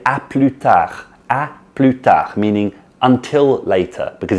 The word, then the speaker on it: à plus: in spoken French to à plus, like see you later, à plus. So we start pronouncing the S there, but in the full form we don't pronounce the S.